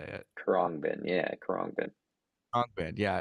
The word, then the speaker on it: Khruangbin: I saw Kurrangbin. Kurabang. I always mess up how you say it. Khruangbin, yeah, Khruangbin.